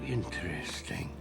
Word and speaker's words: interesting: Now, while he did say it with 4 syllables, it is really important for you to know that normally you'll hear natives say it with just 3 syllables.